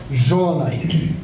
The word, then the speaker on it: Zsolnay: So this is pronounced as Zsolnay. So the sh is the difficult part.